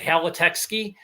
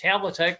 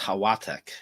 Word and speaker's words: Halatek: Halatekski? No, it's Halatek. That's exactly the way it came over across the pond. I believe it would be pronounced Hawatek. Yes, I was just going to say that. You took my thunder away, but God bless you for doing it, because as well as I do, the L is pronounced like a W in Poland.